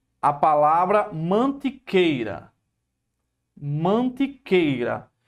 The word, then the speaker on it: Mantiqueira: Aí você pegou aqui, ó, a palavra mantiqueira. Mantiqueira. Veja que aqui forma um ditongo, ó. Mantiqueira. Não é mantiqueira, a pronúncia é mantiqueira. É mantiqueira. Ó, é tudo junto.